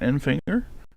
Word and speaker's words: Enfinger: number six of Grant Enfinger or not the number six in sixth place. You got the number nine of Grant and Finger, that's the proper way to say it.